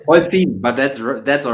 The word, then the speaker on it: Polzin: You You pronounce it right? Polzin, but that's That's all right.